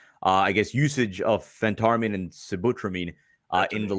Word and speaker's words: Phentermine: felt all right so help me with the pronunciation now is it butramine yeah and then there's ventarmine phentermin or Phentermine Phentermine yeah Phentermine yes so the question from Ivan